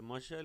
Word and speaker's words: muscle: See here, the C is silent. Muscle. Ascent. Ascent. As well as, what is here? Seizure. Miscellaneous. Fascinate. Scenario. In these words here, C is not being pronounced.